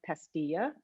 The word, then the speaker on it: Pastilla: You are the co-founder and chief creative officer of Pastilla, and you'll tell me did I pronounce it correctly, Rudy? Yeah, Pastilla.